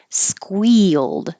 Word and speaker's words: squeal: hold that D glowed squealed this looks like one syllable but it's mostly two because your tongue is going high for the E and then sliding down for the Y squeal it can be